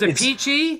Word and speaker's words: Appice: Well, there's a Peachy, Appice, and a Carmen Appice.